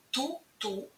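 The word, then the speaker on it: toute: звучить ту пишеться ти на кінці яка не читається приклад тульліва вся книжка далі у множині звучить ту як в однині ту ту але пишеться с на кінці туліліва всі книжки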